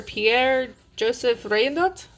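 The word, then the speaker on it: Pierre-Joseph Redouté: it's flowers and fruits with a special feature pierre-joseph rain nut that's how you say it special feature a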